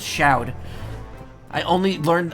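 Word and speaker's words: Chaud: Which, by the way, it's not Shod, it's Shoud. I only learned how to pronounce that right before I streamed Battle Network 6.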